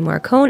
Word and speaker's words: Marcone: an ally and now we've got gentleman johnny marcon and we are going with the pronunciation marcon because um i looked up some